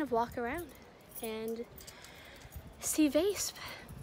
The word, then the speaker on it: Weesp: walk around and see vase i always want to pronounce the name of this town like wisp but it's actually pronounced more like vase it's a really small